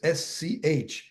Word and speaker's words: Schechet: It's Schechet.